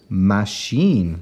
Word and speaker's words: machine: for that Ma and our CH for the shh and we get the N part in with this i n e which you know really the rule should say that should say I I but it doesn't go Ein machine and we're number six